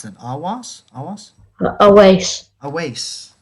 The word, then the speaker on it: Awais: perfect that's great okay great how do you pronounce that awas a waste a waste yeah all right always i'm kenny by the